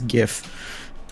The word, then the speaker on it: GIF: also argue incessant about how you pronounce GIF it's gif if somebody say I